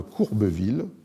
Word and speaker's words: Courbeville: bien dire, peu connue, d'un jésuite, François de Courbeville, comme ça se prononce, C-O-U-R-B-E-V-I-2-L-E, qui va donner au texte un